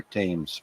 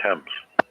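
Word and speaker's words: Thames: sea does the river tames flow I think you mean temps yeah yeah forgive my pronunciation uh the river tames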